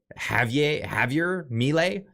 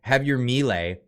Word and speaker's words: Javier Milei: Is it Javier Milei? Because they don't pronounce the J's over there. But anyway, Javier Milei was inaugurated in 18 days.